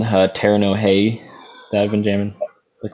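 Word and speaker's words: Terno Rei: There's a Brazilian band called Terno Hey that I've been jamming. They're cool. It's spelled TERNO space REI.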